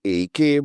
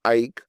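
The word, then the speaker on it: AEK: You know some people say I AK but let me let me confirm to you the the proper pronun pronunciation of that team is Ike Athens not AK Athens.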